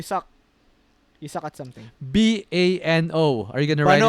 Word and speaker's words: Bano: Bano or you suck you suck at something b a n o are you going to write it down here